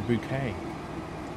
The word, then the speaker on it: Bouquet: stored at the moment it's not a bucket it's a bouquet a bouquet are you're